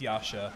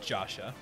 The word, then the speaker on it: Yasha: bubbles we had Yasha yes it's Yasha not jasha that's a correct pronunciation and Japanese player s